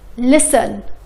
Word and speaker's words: listen: often listen castle. ما نطقنا صوت التي.